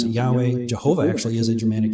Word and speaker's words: Yahweh: We pronounce it Yahweh.